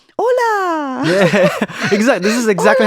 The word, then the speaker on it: hola: always correct in them no no it's not AA it's hola you know they be like